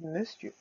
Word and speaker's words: monsieur: Eh oui, on écrit monsieur, mais c'est monsieur.